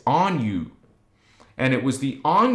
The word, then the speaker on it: Anu: spelled a in u people call it Anu it's actually if you want to be accurate it's on you and it was the